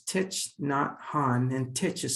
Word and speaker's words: Thich Nhat Hanh: His name is Thich Nhat Hanh, and Thich is spelled Thich, Thich.